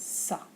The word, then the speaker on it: ça: It makes a C that is followed by an O, an A, an O, or a U, soft and pronounced like an S.